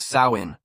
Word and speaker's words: Samhain: Halloween began over 2,000 years ago with the ancient Celtic festival called Samhain, pronounced Samhain.